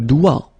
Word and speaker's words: doigt: Okay, so don't be frightened by this G because basically you don't pronounce it and then the final T you don't pronounce it. So the only thing you get to pronounce is this combination of three letters, sorry, here, D, O, I, okay? O, I, it's wa and then D, doigt. That's the only thing.